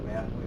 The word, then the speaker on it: Nathalie: Just as a point of information, the Nathalie, that's how it's pronounced, firm has already reached